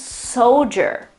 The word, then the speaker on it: soldier: The right pronunciation is soldier, soldier, soldier. This is a transcription with the International Phonetic Alphabet. So again, the accent is on the first syllable, so the O, but the O sound is not a normal O, but it is schwa and U.